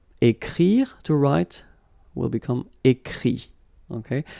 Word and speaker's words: écrit: Écrire, to write, will become écrit. Okay? Remember that phonetically this final T doesn't exist.